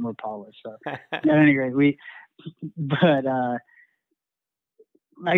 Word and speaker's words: Rapala: For me, I mean, I grew up casting spinnerbaits and Rapalas, or actually Rapalas, I believe, is how they're supposed to be pronounced. Upstate New York, we call them Rapalas.